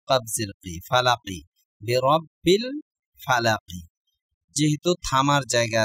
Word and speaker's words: فلق: ক বা জিম দাল এই পাঁচটি অক্ষরে যদি সাকিন হয় তাহলে ধাক্কা দিয়ে পড়তে হবে ফালাক এরকম উচ্চারণ হবে তাহলে আমরা পুরাটা উচ্চারণ